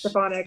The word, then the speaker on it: Stefanik: How do you say her last name? Is it least I say Elise Stefanik. Stafanik.